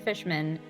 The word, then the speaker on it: Fishman: we think that mr fishman which the nerve of having that be a name in this game can you please pronounce it fish man because that is the way to pronounce it mr fishman yes checked